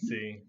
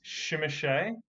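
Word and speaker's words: Tzimisce: I just want to confirm for everybody that regardless of Yeah. what anyone has ever said in the past, it is not pronounced Shimashe. And you can find me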